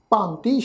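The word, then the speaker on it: ਭਾਂਤਿ: कन्ने अखर के उपर साध संगत जी ये गल ख्याल रखो, असी बिंदी का पाठ लगा के उच्चारण करांगे भांति।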